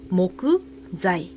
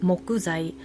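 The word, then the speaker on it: 木材: 한국어 발음은 재어 발음은 사이. 그러면 목재는 일본어를 어떻게 읽어요? 모그자이 이렇게 읽게 되고요. 사이에 타그마가 와서 자이라고 되는 거고요. 한국어로는 뭐다? 목재. 그래서 우리는 목재를 가지고 목구자이.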